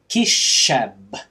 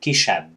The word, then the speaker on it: kisebb: That's because for some reason people tend to pronounce this word as kisebb as opposed to kisebb.